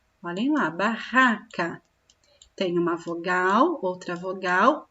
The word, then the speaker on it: barraca: Se eu escrevesse ba, olha lá, ba, ra, barraca. Olhem lá, barraca. Tem uma vogal, outra vogal. Entre as vogais eu escrevo dois R's, porque o som barraca é forte.